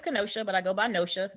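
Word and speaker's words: Nohia: say your name wrong no chia did I say they're on her at all it's close enough it's nosha no show okay n-o-h-i-a hey y'all um the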